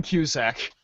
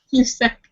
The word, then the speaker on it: Cusack: I'm saying it wrong. It's John Cusack. Cusack. I put an R in there.